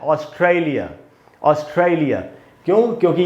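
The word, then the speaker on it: Australia: इसको दोस्तों हम ऐसे पढ़ेंगे ऑस्ट्रेलिया। ऑस्ट्रेलिया, ये जो ट्राई में जो ए है वहाँ पर स्ट्रेस है, उधर ही ज़्यादा देर तक रुकना है, इसको हम पढ़ेंगे ऑस्ट्रेलिया।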